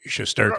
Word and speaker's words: Shesterkin: Yeah, because it doesn't look like it should be Shesterkin. Right? Yeah, exactly. It looks like Chesterkin, as in Chesterfield or whatever. Wrong.